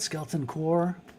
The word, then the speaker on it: Skeleton Corps: Skeleton Core. Is that how you pronounce it? Skeleton Core.